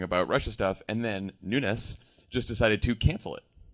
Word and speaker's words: Nunes: today can the hearing Nunes I said it try it again Nunes nun n I know there's no na there's no called and